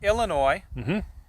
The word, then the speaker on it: Illinois: guys are out in illinois i'm trying to say it right i won't throw that s on the end and and you're opening